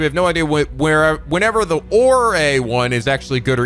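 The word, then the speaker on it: 俺: quote, used in casual ore? It's used in casual setting between people who are very close to each other. Oh, I guess it's pronounced Ore, O-R-E.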